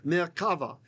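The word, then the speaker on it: מרכבה: Notice it's not kova, it's kava. Okay. Unless Ashkenaz, then it's bamer kovo.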